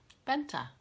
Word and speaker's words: Bente: because I know that an E at the end is pronounced like an A in English. You know, Licka Needles, Arna, and Carlos. Benta.